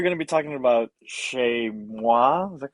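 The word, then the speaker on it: chezmoi: awesome and you're going to be talking about shay moi is that correct yeah you got the pronunciation i have no idea what that is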